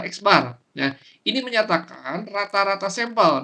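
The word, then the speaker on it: x̄: Jadi, Milan sampel itu dilambangkan sebagai X di mana X itu adalah dibacanya adalah X bar.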